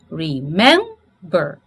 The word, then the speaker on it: remember: r não posso remember Olha a minha pronúncia remember Qual é a tônica M não é a última Então se ela não